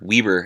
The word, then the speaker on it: Weber: Bomber, the Browns, number 1 overall pick, Nathan Weber, or Weber, as I've been told it's pronounced by Mike.